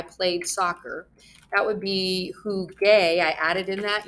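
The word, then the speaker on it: jugué: gaste go gamosgaron but who hey has this soft G sound when it comes before an e so to make it sound like the others what happens in Spanish is we are going to add in the letter why did that not add in I don't know we're going to add in the letter U and we're gonna get who gay now it sounds like the others and who gay actually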